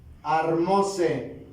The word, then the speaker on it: armóse: Vean la palabra armóse. Acento en la O, no obstante que termina en vocal.